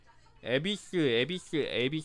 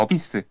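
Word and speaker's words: Abyss: 스펙터 에비스 월드가 뭐야? 에비 맞나? 근데 스펠링은 틀릴 수 있을걸요? 이거 어 이거네. 지면은 세 개? 어비스 에비스가 아니라 어비스. 어비스.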